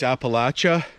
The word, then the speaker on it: Appalachia: the bark there the appalachia or i think as they pronounce it in the states appalachia i think we use uh the french pronunciation here in canada but these are the